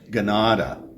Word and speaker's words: Ganada: If you know, Canada, it's actually pronounced, if you're a Mohawk speaker, they don't have a k sound in their language, it's a g sound, so it would be pronounced Ganada, and so that means basically the place where we live.